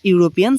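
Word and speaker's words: European: তারপরে দেখো, হি is dash ইউরোপিয়ান citizen, এই উচ্চারণটা আমার সঙ্গে সঙ্গে করো। করো। ইউরোপিয়ান উচ্চারণ করো, ইউরোপিয়ান, ইউরোপিয়ান। তো কোনো ওয়ার্ডের যদি উচ্চারণ ইউ দিয়ে শুরু হয়, ইউ একেবারে ইউ এর মতো উচ্চারণ হবে, তাহলে কিন্তু তার আগে কি হবে?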